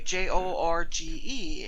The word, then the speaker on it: Jorge: but george spells his name the spanish way j-o-r-g-e and she called him jorge i was like